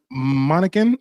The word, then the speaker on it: Monacan: You said Monacan. Is that how you pronounce the tribe?